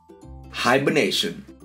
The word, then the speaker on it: hibernation: for the week is hibernation and how to say it hi bur nay shut some animal sleep for